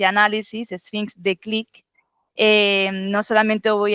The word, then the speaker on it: Sphinx: la pronunciación francesa es Sphinx. Sphinx, exactamente. En francés dice Sphinx, pero claro, eso en español no se coge por ningún lado. Sí. Exactamente. Entonces, en españolizado, Sphinx.